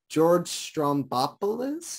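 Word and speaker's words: George Stroumboulopoulos: interview with um i don't know how to pronounce this guy's name uh george strombopolis is that it yeah perfect thank you i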